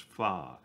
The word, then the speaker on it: pho: come out and order faux pronounced phi and am happy for